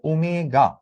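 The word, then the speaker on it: omega: এইটার উচ্চারণটা হচ্ছে ওমেগা।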